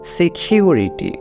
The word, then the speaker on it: security: সিকিউরিটি, এখানেও কিন্তু দেখুন, আপনি এখানেও কিন্তু সির উচ্চারণ ক দিয়ে কিন্তু করলে হবে না, এখানে সির উচ্চারণটা হবে কি দিয়ে? একটু আগে যেটা বললাম যে সির উচ্চারণটা হবে কিন্তু খ দিয়ে।